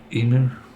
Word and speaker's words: Imu: It's still got to go through Emu, that's how you say it, Imu. I put Imu, because Emu reminds me of Timu, which is annoying.